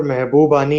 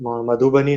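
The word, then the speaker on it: Mahbubani: अच्छा, वो एक और चीज किशोर महबूबानी है, मधुबनी नहीं है, तो मतलब स्पेलिंग देख लेना थोड़ा.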